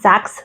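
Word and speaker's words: Sachs: this one's from the I think it's pronounced sax Center um It's s a c HS Center and I will put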